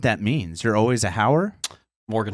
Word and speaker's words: Hauer: of the name so the best way I describe it to people is to be able to say just like say how are you you know how are